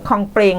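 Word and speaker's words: คลองแปรง: พอ ไป อีก ที่ ตำบล คลอง แปรง คลองเปรง นะ คะ อ่าน ว่า คลองเปรง นะ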